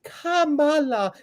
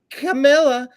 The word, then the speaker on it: Kamala: not Fanny it's funny it's Kamala not CA or camela or CA who cares when you're